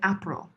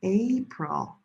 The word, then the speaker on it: April: A lot of people say April. Ah. Ah. It's not. It's gray day. April. Gray day.